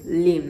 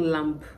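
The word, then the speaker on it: lamb: sure by now you're already getting the drill lame not limp limp right and then Lam Lam not lamp s of God I don't know sometimes I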